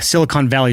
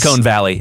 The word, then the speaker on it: Silicon Valley: look at a growth chart it's like a Silicon Valley startup yeah you got that nice Silicone Valley it's pronounced silicone yeah for those of you who